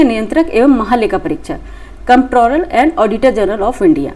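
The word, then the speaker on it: Comptroller: Piece इसमें silent है। ठीक है? कंट्रोलर and auditor general of India.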